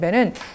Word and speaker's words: 배: 위하며 들어 야 해요 먹는 배는 짧게 발음하지만 두 번 합한 만큼의 양을 나타내는 배는 길게 발음해야 하거든요 하지만 그을 읽을 때는